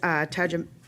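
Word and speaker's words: Tajikeimɨk: designated, representative from I have trouble saying this, Tajamik, ED, I said it wrong, didn't I?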